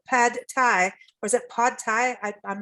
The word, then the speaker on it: pad thai: a peanut beef pad thai, or is it pod thai? I'm not sure how to pronounce that correctly. Pad thai.